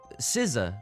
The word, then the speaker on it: SZA: Anyway, it's pronounced SZA, but she doesn't, this is, I hate to